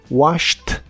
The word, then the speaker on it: washed: En todos ellos la terminación ED se pronuncia como T. Escucha: walked, passed, stopped, laughed, fixed, washed y watched.